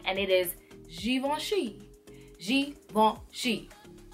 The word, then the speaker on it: Givenchy: bring it back and it is g1 shi-jiiy won't she it's not good in Chi its Sheen all